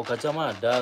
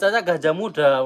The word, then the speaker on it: Gajah Mada: Oh, Gajah Mada. Tadi saya kira itu Gajah Muda . Awalnya saya membacanya sebagai Gajah Muda .